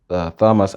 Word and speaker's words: Thomas: Number 6 aka ce note also that in some names like Thames, Thomas and Anthony, th is pronounced as t.